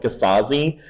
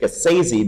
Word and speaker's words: Gasazi: Garden of Abdul gazazin which I have been mispronouncing his name for so long because I've called it gasazi but he actually named it gasezi because he originally wrote the book in couplets and he wanted to rhyme it with crazy um